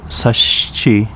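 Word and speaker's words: Sashiki: in 2006 with the merger of four towns sashki chinang tamagusuku and ozato pronounced sashi chining tamagushku and ufujatu respectively in uchinanguchi town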